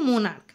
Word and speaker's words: monarch: যেমন দেখো মোনার্ক, MONARCH, এখানে দেখো সিএইচ আছে, সিএইচ এর উচ্চারণ কিন্তু চ হচ্ছে না, সিএইচ এর উচ্চারণ কি হচ্ছে ক।